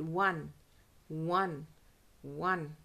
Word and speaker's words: won: बोलते हैं वन टू का वन, वैसे ही प्रोनाउंस होता है ये वर्ड, वन वन वन।